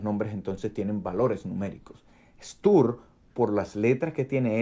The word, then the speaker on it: Stur: Miren, Tau es la letra de Saturno. Israel Regardi, The Golden Dawn, lo dice. El número caldeo para Saturno es 666. El nombre Saturno en caldeo se pronuncia Stur, o Satur, o Satir.